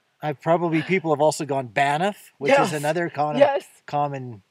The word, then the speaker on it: Banff: I know some people have called it Bath because it sounds like Bath in a video. It's a weird name. People have also gone Banff, which is another common name, B-A-N-I-F-F.